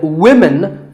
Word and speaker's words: women: But remember that we say woman for one woman and women for the plural.